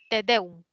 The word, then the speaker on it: tedeum: La siguiente palabra, tedeum. ¿Lleva tilde o no lleva? ¿Qué No dicen lleva. muchas? No lleva, excelente. Es una palabra que es aguda, te deum, ¿no?